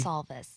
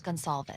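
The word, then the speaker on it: Goncalves: And that's from the uh Kaylee uh Gonalves' family. I would be Gonzalz. Was that Gonzalez? Gonzalz. Thank you. Gonzalz.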